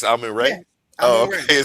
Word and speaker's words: Amun-Re: No, he pronounced his name correct though. It's Ray. It's Amun-Re.